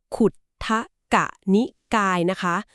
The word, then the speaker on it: Khuddaka Nikaya: We will pronounce this Nikaya clearly as Khuddaka Nikaya. But what does this Nikaya contain ? The Khuddaka Nikaya is like a central repository of all the remaining scriptures.